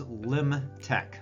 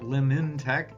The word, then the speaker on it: Lifemark: Our name, our name is Limch. Lim, not Limchech. The N is silent.